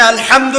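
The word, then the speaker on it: الحمد: প্রতিপালক বা মালিক আচ্ছা এখানে আলহামদু কেমন করে উচ্চারণ করেছেন গলার কোথা থেকে মাঝখান থেকে না আচ্ছা আলহামদু অর্থ সমস্ত প্রশংসা যদি কেউ বলে আলহামদুলিল্লাহ অর্থ কি হবে অর্থ উল্টে যাবে অর্থ হবে সমস্ত নিন্দা আল্লাহর জন্য নাউজুবিল্লাহ যিনি বিশ্বজাহানের রব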